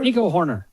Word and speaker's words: Hoerner: Nico Hoerner? Nico Hoerner.